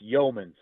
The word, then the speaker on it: Youmans: heard a breakup there, but it's Youmans. So basically, you take the U out of it. There's no U. And so Youmans. I mean, there's U when you spell it, but whenever you say it, it's Youmans.